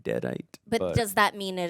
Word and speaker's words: Deadite: But I can say Alyssa Sutherland as Ellie, who plays the Deadite.